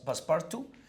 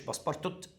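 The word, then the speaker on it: Passepartout: بتاعه اسمه باسبارت باسبارت هو باسبارتو التي الاخيره مش بتنطق مش باسبارتوت باسبارتو ده عباره عن فوجز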